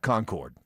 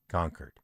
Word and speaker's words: Concord: That is Concord. Not Concord. Concord. Everybody knows it's Concord.